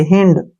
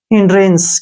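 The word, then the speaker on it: hindrance: HI का उच्चारण हम ही करेंगे और एन का ने और डी का डे, ऐसे, हिंड, क्या पढ़ेंगे इसको, हिंड, हिंद नहीं पढ़ना है, हिंड। RA का उच्चारण रे करेंगे, एन का उच्चारण ने और CE का उच्चारण शेव करेंगे। हिंड्रेंस, क्या पढ़ेंगे इसको, हिंड्रेंस।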